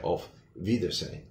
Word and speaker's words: Auf Wiedersehen: originally came from German, the W sometimes is pronounced a little closer to a V in English. So that's why we say Auf Wiedersehen.